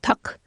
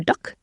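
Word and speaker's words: tteok: It's called tuk, T-T-E-O-K, or duk. I'm not saying it correctly because I'm not Korean, but it's inspired by that recipe.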